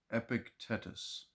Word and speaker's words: Epictetus: But this Greek philosopher's name is spelled Epictetus, from 55 to 135. I'm going to call him Epictetus.